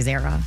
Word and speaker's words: Zara: That's just like Zara is actually Zara.